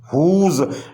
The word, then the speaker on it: whose: ऐसे ही अगला वर्ड है हुज, WHOSE हुज, यहाँ W साइलेंट है, H बोल रहा है।